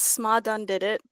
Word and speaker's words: Sma-dun-did-it: So it's Sma-dun-did-it because my name is Sma.